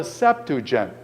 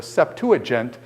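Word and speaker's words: Septuagint: and it's called the sepen the sepen or the septu aent it's pronounced various Ways by various people I've heard but the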